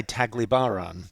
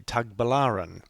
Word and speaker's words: Tagbilaran: I say Tagliban. I say Tagliban right through this video. It's actually Tag Balaran.